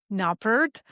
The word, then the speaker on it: Knoppert: His name is Perry Knoppert, and that is pronunciation that I just am freely deciding to use. Spot on. Spot on. It's perfect.